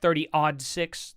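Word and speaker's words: 30-06: round out of that 30 odd six? Oh, wait, my bad. 30 odd six. That's That's the proper way to say it, by the way.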